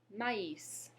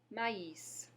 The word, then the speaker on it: maïs: The first is maïs. Maïs. Go ahead. Great. Maïs. You may be wondering why I'm pronouncing the S at the end of that word.